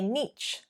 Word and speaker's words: niche: I don't like niche. It's up to you what you say. It really doesn't matter either way. When someone has used this pronunciation with me, an American in fact, it's more commonly pronounced niche in American English, I understood what they were saying.